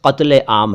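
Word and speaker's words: क़त्ल-ए-आम: फिर है आशिकी के हर कदम पे रोज़ कत्ले आम है, आशिकी यानी का के नीचे नुक्ता, कदम यानी का के नीचे नुक्ता, रोज़ ज के नीचे नुक्ता, कत्ल आम क के नीचे नुक्ता।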